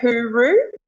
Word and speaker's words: hooroo: A lot of people say hooroo, like hooroo Who? is a very Who? Aussie thing. Hooroo. Hooroo. Like who knew? Who knew? Hooroo. Yeah, a little bit like that.